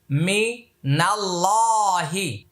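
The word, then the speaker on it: مِنَ اللَّهِ: খারা জবর লা মিনাল্লা এখানে আল্লাহ শব্দের পূর্বে জবর আসছে তাই উচ্চারণ এটা লামটা মোটা হবে আর তাশদিদের ডানে হরকত ছাড়া হরফ পড়া যাবে না এই আলিফটা লামটা পড়া যাবে না মিনাল্লাহি মিনাল্লাহি এটা এক আলিফ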